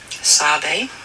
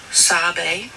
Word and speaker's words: Sabe: I just wanted to share with you how we, the Anishinaabe people, pronounce Sabe, and that's it. Sabe is how you pronounce S-A-B-E, and that is what we call Sasquatch, Bigfoot, Sabe.